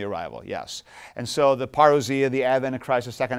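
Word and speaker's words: παρουσία: arrival is and I've heard some English speakers pronounce this as perua which I suppose it looks like but come on know your Greek people and so yes paria and Advent Advent the Latin um Advent would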